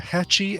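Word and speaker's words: Hatchie: H a TCH ie catchy I get it catchy like trying to open the hatch e unlost I get it check this out yes there's something very hacci about the odor that's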